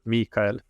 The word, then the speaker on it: Mikael: it the okay in in my native Swedish it's uh the emphasis is on the e sound so Mikhail okay okay very cool